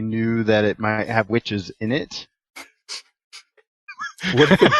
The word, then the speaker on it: Wytches: Yeah, it's by the way, it's Witches with a Y instead of an I.